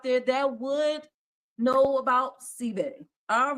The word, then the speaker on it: Senbei: The answer we were looking for, guys, was sebe. It's spelled Senbei. Sebe.